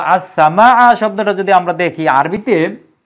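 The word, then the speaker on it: السماء: সিনটা হচ্ছে সূর্যাক্ষর সেজন্য সিনের পূর্বে আলিফ লাম বসানো হয়েছে কিন্তু লামের উচ্চারণ হবে না সূত্র অনুসারে আর এই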